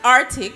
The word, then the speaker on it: Arctic: you pronounce it Arctic. It's pronounced Arctic. But the C is silent.